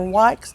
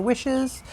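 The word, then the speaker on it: Wyche's: Witchies. Some people call it Dr. Wykes, Dr. Wishes. So it's spelled W-Y-C-H-E-S, Dr. Witchies.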